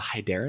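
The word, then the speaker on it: Hyderen: Is it Hydarin? Uh, hyeren. Hyerin. Hyer. Is that how it's spelled? H y d e r e n.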